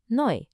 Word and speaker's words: neu: The combination EU makes an oi sound, so new is neu.